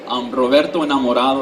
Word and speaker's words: Roberto Enamorado: Roberto Enamorado is actually how you pronounce my name, which translates to Robertoinlove in English.